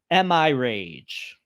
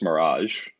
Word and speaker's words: Mirage: page assassins creed noah how do you pronounce this am i rage i think that's mirage mirage i'm like mirage